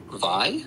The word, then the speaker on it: Vi: I just found out it's not pronounced V it's VI I think I was